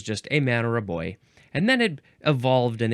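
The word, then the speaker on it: beau: boyfriend and B and B is spelled be E A the Frenchy way boyfriend or bo bo oh he's my boyfriend my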